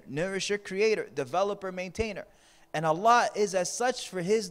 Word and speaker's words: Allah: Allah pronounced A-double-L, exhale with love.